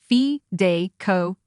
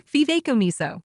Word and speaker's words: fideicomiso: This term is pronounced Fideicomiso or Fideicomiso.